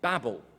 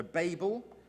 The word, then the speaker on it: Babel: significance of this well the place gets called Babel or the Americans say babble babble 'tom Babylon exactly so Babel Babylon stands for two